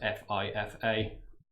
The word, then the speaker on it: FIFA: pronunciation, like this, F-E-E-F-U-H, because that probably gets pronounced F-I-F-A, and most people will just say FIFA.